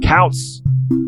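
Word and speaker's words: Koutz: important to note that his last name is spelled k-o-u-t-z i said couch k-o-u-t-z steven is also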